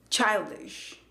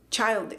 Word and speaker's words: childish: Childish. Es childish. No es childish con A, con schwa. No, es con ese sonido E.